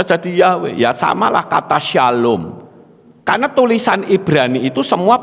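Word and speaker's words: שלום: Shalom itu kan SLWM, S-nya bukan samek ya, tapi Shin. SLWM. Apakah kita SLWM? Kan tidak, saudara. Ya toh, Shalom. Nah toh, kok bisa Shalom? Bisa Salem toh? Bisa Salim toh? Bisa Shalom toh? Karena orang Ibrani ngerti nek SLWM kuwi mesti munine Shalom.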